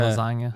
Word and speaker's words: lasagna: Like the G is silent in Okay. lasagna. Yeah.